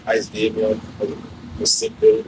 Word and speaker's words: Daemeon: Yes, so yeah, the artist's name is Daemeon, but it's spelled.